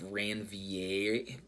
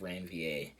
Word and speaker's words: Ranvier: of ranvier or reviewer i think that r is silent it's nodes of ranvier ranvier r-a-n-v-i-e-r also called